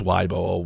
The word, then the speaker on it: Weibo: ] weibo post right where I know it's pronounced why Bor weibo I don't even know but I'm calling it